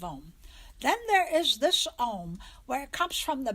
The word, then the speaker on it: Aum: of your mouth and because that's why why it's spelled AUM even though we say ohm AUM the mouth is not in an O it comes from the back of the mouth rolls forward on your tongue into an M Oh